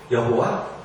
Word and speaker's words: 여호와: 나중에 그 Y, H, W, H에 모음을 붙여서 사람들이 어떤 사람들은 야훼라고도 발음을 했고 어떤 사람들은 여호와라고도 발음을 했습니다.